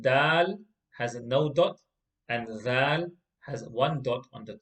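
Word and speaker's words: ذال: So the way that letter was pronounced was that the tip of the tongue touches the edge of the front two teeth. Tha. Exactly in the same way, letter dhal is pronounced as well.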